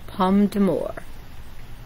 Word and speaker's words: pomme d'amour: Thomas loved the apple, and it's pronounced pomme d'amour. There we go, pomme d'amour.